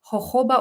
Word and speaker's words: jojoba: knees and there's also what's called hoba oil which is spelled jojoba oil J OJ o baa and that actually isn't